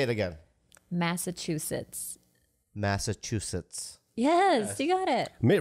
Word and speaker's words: Massachusetts: Massachusetts. Yes, you got it. Mitt Romney couldn't pronounce it.